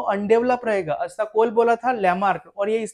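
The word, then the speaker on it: Lamarck: था लमार्क John बिकमार्क spelling लेकन John बोलते फ्रेंच लमार्क अ लमार्क के बारे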